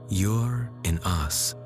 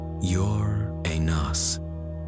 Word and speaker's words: Uranus: It even has two common ways to pronounce it in English. You're in us and you're an NAS as no one has been able to definitively agree on the matter.